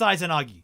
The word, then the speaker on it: Izanagi: Izanagi is pronounced Izanagi.